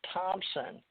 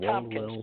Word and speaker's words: Thompson: Thompson, not Tompkins, but Thompson. Yeah. Yeah, Thompson with a P.